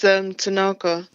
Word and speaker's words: Tanaka: It's Tanaka. Oh, it's Tanaka. Yeah. Oh, right. Okay. So it's pronounced differently to how it's spelt. Yeah, it's got a lot of A's in it.